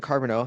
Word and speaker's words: Carbonneau: so yeah, I didn't know how to say it at first, and someone said carbonara, and then I was like, well, I'm Italian, so that really that's good for me.